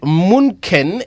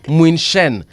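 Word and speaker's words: München: Mbuvi, Munken is pronounced as Muinshen, not Munken.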